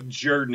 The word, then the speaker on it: Jordan: you're included um the name is spelled j-o-r-d-a-n everybody else who has that name that i have ever heard calls it jordan so if people call